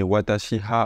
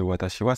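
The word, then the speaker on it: 私は: à travers l'écrit B vous allez peut-être dire des choses comme kogichiha au lieu de kogichiwa des watashiha à la place de watashiwa ce genre de chos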